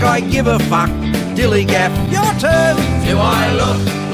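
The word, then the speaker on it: DILLIGAF: That's spelled D-I-L-L-I-G-A-F, Dillygaff.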